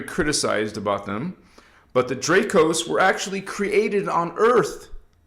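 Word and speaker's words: Dracos: Now, there is an exception we'll talk about tonight called the Draos. The Guardians spell it D R A C O S, not Drakes. Okay.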